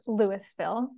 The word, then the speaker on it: Louisville: experience in Lewisville Colorado spelled like Louisville but it's Lewisville using sloyd principles of